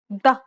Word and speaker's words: ض: The next consonant is ض. ضم. مضر. ضد. This is similar to the previous D sound, except it sounds deeper.